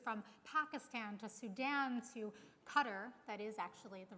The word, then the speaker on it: Qatar: This new organization had already successfully created cohorts of cooperation in countries from Pakistan to Sudan to Qatar, that is actually the right pronunciation, to Turkey, to right here in the United States.